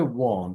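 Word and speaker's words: weren't: এটা উচ্চারণ হবে ওয়ান্ট, একটু টান দিয়ে হবে আর কি।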